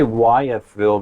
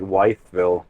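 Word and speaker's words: Wytheville: back on I77 towards weville I think is how you pronounce it I want to say wythville but I think you're right I think it's more like weville it didn't take as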